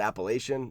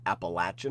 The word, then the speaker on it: Appalachian: Depends on if you're from the north. I always pronounce it Appalachian, but because I've hiked the whole trail and I've been down south, I've heard Appalachian a lot, so I kind of switch back and forth.